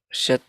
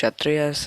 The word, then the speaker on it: Kshatriyas: Instead of Shat, you mispronounced Kshatriyas, and you also said Hanuman was the elephant god, but he's actually the monkey god.